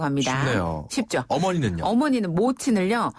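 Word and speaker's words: 母亲: 어머니는 모친을요. 네. 무친.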